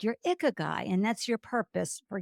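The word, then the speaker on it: ikigai: any age is that you have found your ikag guy and and folks if you don't know what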